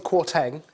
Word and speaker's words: Kwarteng: Kwasi Kwarteng, yeah.